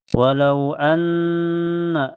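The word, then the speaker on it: وَلَوْ أَنَّ: Walau anna, di awal ayat ada harfulin karena waw sukun, sebelumnya harakat fathah di lam, dibaca lembut ya, lunak. Walau anna setelahnya ada gunna musyaddadah karena ada nun bertasdid. Cara bacanya ditahan sekitar 2 ketukan saja, dan sebabnya sebelum nun bertasdid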